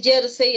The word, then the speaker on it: jersey: ver la pronunciación aquí si es jersey así como yo lo pronunció es una palabra grave que dice aquí y